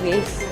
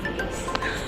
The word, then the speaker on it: vase: Ang flower vase. Tapos ito, may donut ang tuktok. Ayan. Dito naman kami sa art gallery. Yan, nagre-register siya. Tito, vas, hindi vase.